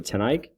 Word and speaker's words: Tnike: again my name is mr tnike and that is pronounced with the number 10 and then ike like president ike or mike and ike candies that helps okay this